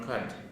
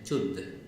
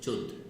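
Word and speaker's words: cud: It comes from the Pali root chud, C-U-D, khad, not khad. Pali pronunciation chud, C-U-D, pronounced chud.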